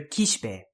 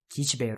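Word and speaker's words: Kishibe: Next is the character Kishpe. Kishpe. Kishpe. Kishpe. Another whispered vowel there, the shi.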